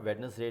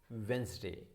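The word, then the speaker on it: Wednesday: हम वेडनेसडे को मिल जाते हैं यार, वेडनेसडे कर लेते हैं, बट इट्स नॉट वेडनेसडे, this is वेंसडे, this is वेंसडे.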